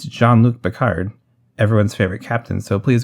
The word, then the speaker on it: Jean-Luc Picard: about that show and people started calling jean-luc picard jean luck pickle i'd probably stop the actress and say no it's jean-luc picard everyone's favorite captain so